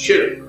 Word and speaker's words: shirk: The pronunciation of the word is shirk, which is one syllable. Don't make it two.